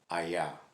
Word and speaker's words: Hayah: that is the true name of god as given to moses and it is pronounced aya and there's a reason i know that because